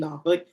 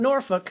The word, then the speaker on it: Norfolk: is in my backyard, I grew up in Nofuk, then what else am I missing?